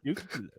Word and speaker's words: nuclear: So- It's pronounced nuclear.